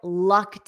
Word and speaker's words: lucked: that's one expression I lucked out so repeat after me for pronunciation because notice this Ed is pronounced as a soft t aof soft t i